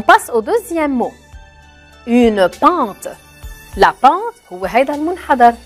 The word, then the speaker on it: pente: J'entends pas à la fin, je n'entends pas le E. Je ne le prononce pas trop.